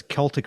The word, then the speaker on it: Celtic: I know how he he says Celtic Frost, not Celtic Frost.